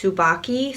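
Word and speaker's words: Tsubaki: And I'm pretty sure I learned how to pronounce this the right way. It's Subaki Swirl, because I have I have two other items from this line that I picked up.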